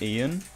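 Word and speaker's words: Iain: So I had a teacher whose first name was Ian, but it's spelled Yane. Like I A I N, which is like I don't know.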